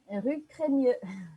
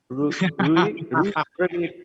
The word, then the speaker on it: Rue Crémieux: Ini bacanya apa nih, Cak? Biasanya kalau orang Paris bilangnya apa nih? Rue Cremieux. Rue Cremieux.